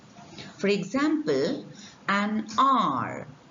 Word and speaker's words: heir: successor so we have we call it mute h words with mute h such words take an because they begin with a vowel sound you have examples here an r an owner an heir